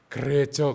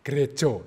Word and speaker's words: Gereja: Karena kita ini membacanya harus pakai bahasa Jawa ternyata. Gerejo. Jadi G-R-E-J-A itu bacanya gerejo. Bukan gereja, bukan.